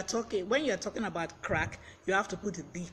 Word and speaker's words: craic: for the day and the pronunciation is crack now crack is an